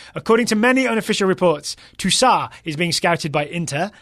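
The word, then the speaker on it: Tousart: midfielder for lay on you probably don't pronounce the T on the end of that is my guest please don't email me according to many unofficial reports Tusa is being scouted by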